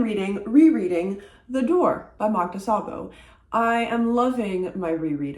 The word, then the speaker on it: Szabó: And corrected my pronunciation of Szabó with an S as opposed to a Z.